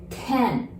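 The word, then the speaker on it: 点: we use lei and the point part we said ten in japanese it's exactly like number 10 in english but 10 in japanese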